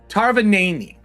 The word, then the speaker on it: Tarvanani: So I think it's Tarvany, I think is how it's pronounced, or Tarnavany. Hold on, listen. Tarvanani.